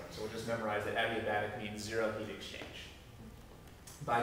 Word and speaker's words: adiabatic: all the way to pronounce that is adiabatic with the emphasis on the B adiabatic I don't know I've